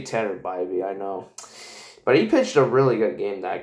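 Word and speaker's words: Tanner Bibee: mean and actually guys I have to apologize to tattered by me for getting his name wrong in my intro yeah it's actually you say Tender by me I know but he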